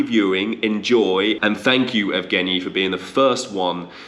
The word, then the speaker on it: Evgeniy: And Evgeny, have I said it right?